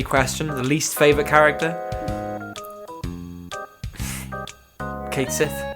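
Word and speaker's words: Cait Sith: the least favorite character Kate Sith or what is it kaii or whatever it's pronounced Kate Sith how it's spelled useless uh double crossing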